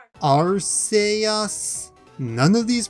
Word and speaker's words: Arceus: one let's find out you failed stalemate r say us none of these pronunciations were right so that's it then this